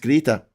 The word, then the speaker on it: Greta: Or Greta. It's pronounced Greta.